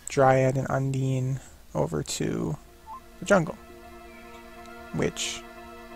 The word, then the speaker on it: Undine: I think Brooch of Love only gives like a Dryad and an Undine? Undine, I'm pretty sure.